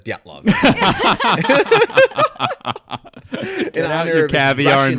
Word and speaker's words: Dyatlov: My dad's Russian, and he said he did a weird thing with the DY. He's like, Dyatlov.